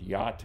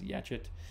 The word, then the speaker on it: yacht: exceptions that we have, like the word yacht, which my dad insists on pronouncing as yachit, versus very regular words like can or something like that, that everybody pronounces the same way.